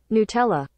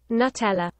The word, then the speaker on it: Nutella: Nutella.